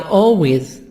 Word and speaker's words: always: Yes, I always study English. Always L silent. Always, almost always L silent. Because I have A before L. Most of time if I have A before L, L is silent.